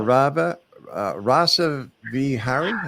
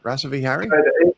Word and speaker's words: Rasa Vihari: Now, I believe your name is pronounced Dr. Rava Rasa Vhari. Is that it? Rasa Vihari in So this in Rasa Vihari. Rasa Vihari, but you can just call me Rasa for short.